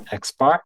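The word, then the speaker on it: x̄: of observations or this symbol here is going to be pronounced as xar and this other symbol here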